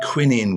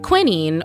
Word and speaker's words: quinine: So this was a real issue, and quinine was found to help. Quinine, or quinine as we Americans say it, was an invaluable remedy for malaria.